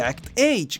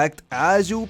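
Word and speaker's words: Act-Age: tuvieron que terminar forzosamente act age que realmente se pronuncia act aju pero esos son detalles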